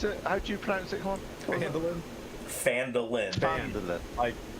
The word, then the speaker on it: Phandalin: How do you pronounce it? Come on. Phandalin.